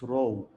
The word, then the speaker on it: rho: So for the population, it's rho. Rho, it's like P, but it's not completely P.